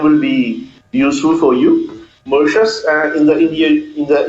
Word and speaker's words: Mauritius: very pretty beaches yes how do you say more ETS Mauritius how do I save Mauritius Mauritius yes it's I learned new